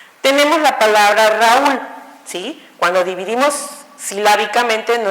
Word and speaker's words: Raúl: Cuando dividimos silábicamente no es Raúl, sino es Raúl. El sonido fuerte se dio en la U, por lógica lleva una tilde y se separa esa unión de vocales.